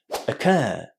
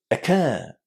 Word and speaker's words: occur: First, you need to put the stress on the second syllable in this word. And the second syllable sounds very similar to the word care. It's just a long air inside care. And then the first syllable is super short.